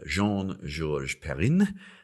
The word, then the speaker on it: Jean Georges Perrin: have an interview with Jean George perin um pronouncing It the French way because he is actually originally French although he now lives